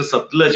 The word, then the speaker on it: सतलज: और मेरा नाम का प्रोनाउंसिएशन सतलज है, बिना किसी मात्रा जी, के सतलज।